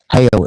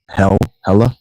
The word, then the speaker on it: Hela: Hail is how, Hela, the goddess, her name is actually pronounced more like Hail.